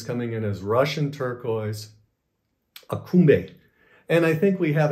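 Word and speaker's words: Aksumbe: that was sold as akumbe now it spells differently it spells a-k-s-u-m-b-e but it's pronounced akumbe and also it was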